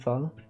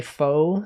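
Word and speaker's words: pho: Um and then you know the classic the classic fo. You might say fo. It's actually pronounced f. Some people don't know this.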